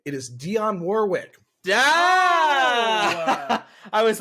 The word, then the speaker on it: Dionne Warwick: It is Dionne Warwick.